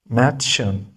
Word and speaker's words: Mädchen: We pronounce M the same like in English. Words begin from letter M. M. Mädchen, Mädchen.